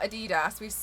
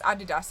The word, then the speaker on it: Adidas: Oh, if you guys don't know, in the UK we pronounce it differently. It's not Adidas. It's Adidas here and Nike.